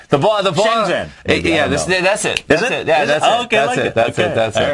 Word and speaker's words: Shenzhen: I gotta pronounce that name right. Shenzhen.